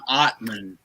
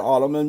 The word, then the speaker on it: Ottman: it's John Ottman. We got a challenge. But it's spelled Ottman.